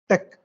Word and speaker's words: TeX: the tool was Tech though it is written as t e x it is pronounced as Tech and it was somewhat